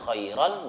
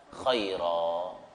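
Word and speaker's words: خيرا: Mad iwad itu fathaten, ya, ketemu alif di akhir kata, tulisannya khairon, bacanya khaira.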